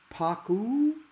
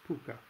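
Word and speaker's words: Pocuh: Paku? No. Poke-ha? Or poke-ah? No. Pook-ah? Yes. Finally, I said, really? Pronounced P Puka, like Harvey, the invisible 6-foot rabbit in the movie?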